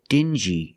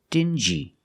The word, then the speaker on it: dingy: Example, dingy and stingy. These two words have the regular n sound, n, plus the j, like juice. Together, stin-g. Together, stingy. Or din-g. Together, dingy.